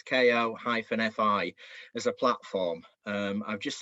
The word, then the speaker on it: Ko-fi: Out of interest, did you look at, and I'm not sure how you pronounce this, is it Ko-fi or Ko-fi? So it's Ko-fi as a platform.